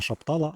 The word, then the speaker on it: Шаптала: Саме наголос на останню літеру А. Все-таки е багато коментаторів були праві. Не шаптала, а Шаптала. І це так званий скаборд